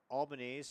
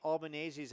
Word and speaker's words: Albanese: the first to say I've been pronouncing Albanese. So if you corrected me, and to all the Albaneses out there, whether they're based in Arizona or across the continental United States, please, no hate mail. I butchered it once. Julie, we apologize. I butchered it twice. I butchered it 3 times, but I won't butcher it a 4th or 5th. And we'll play on to 2024, and it's going to be Albanese here on out.